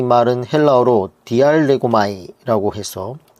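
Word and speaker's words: διαλέγομαι: 이 강론하다라는 이 말은 헬라어로 디알레고마이라고 해서 발음을 하고 있는데, 이 말은 토론하다, 대화하다라는 의미로 가장 많이 사용되는 말이에요.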